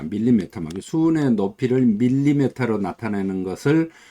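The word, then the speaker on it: millimeter of mercury: 그래서 밀리메타 머큐리가 정확한 발음입니다. 밀리메타 머큐리.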